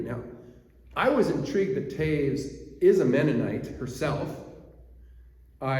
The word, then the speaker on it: Toews: to's tav's menonite upbringing it's pronounced Taves from her low German ancestry and what happened in